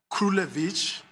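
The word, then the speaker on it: Krulewitch: It's the matter of Krulevich versus United States, and I'll spell it.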